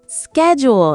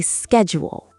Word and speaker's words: schedule: Schedule. In America, we say schedule.